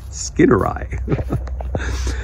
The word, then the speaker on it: skinneri: on saying Skinneri, and he put I like in eyeballs, and that was perfect. I was like, oh, Skinneri.